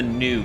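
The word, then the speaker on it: ν: It's pronounced the new Gundam, in U.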